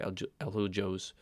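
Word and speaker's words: Azulejos: Azulhos. Azul means blue in Spanish, and you're not going to pronounce it J, you say Aljos.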